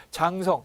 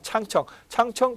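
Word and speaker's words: 长城: 중국의 최고 민간 경제 연구소 중에 하나인 창청, 한자로 우리식으로 발음하면 장성입니다. 장성, 뭐 중국식 발음하면 창청 기업 전략 연구소는 2002년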